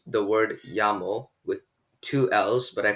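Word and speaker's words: llamo: that happens in spanish when two l's are next to each other in a spanish word it's pronounced ya to ask someone what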